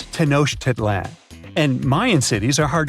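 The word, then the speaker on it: Tenochtitlan: It's Tenosh Titlan. And Mayan cities are hard to pronounce, too.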